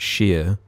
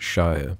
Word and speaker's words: shire: From what I've seen, most English people pronounce it shear, like a shear sheep, and fancy people pronounce it Shire, but you boys pronounce it shear.